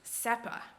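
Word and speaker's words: Sespas: s-e-s-p-a-s or c-e-s-p-a-s but in caribbean spanish a lot of times they would drop the s at the end of words or between consonants so this would actually be pronounced sepa so pretty close to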